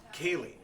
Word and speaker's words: Ceilidh: First of all, I struggled with her name, Ceilidh. It's Celtic. I could look at that 1,000 times and have 1,000 guesses and not come up with the way to pronounce it. Kaylee. How do you get Kaylee from that?